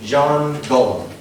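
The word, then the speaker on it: Jean-Guillaume: named Jean Gollum. That's how you pronounce it.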